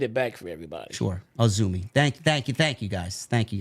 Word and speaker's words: AZM: Ah, Azumi. Okay. It's not spelled that way though. No, it's spelled like AZM.